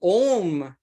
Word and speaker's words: Om: So the Om is A, U, Ma. So if you look at how it comes A, U, Ma, so it covers the whole space of our mouth. And all the syllables, all the vowels, all the words sort of emerge out of this A, U, Ma, Om.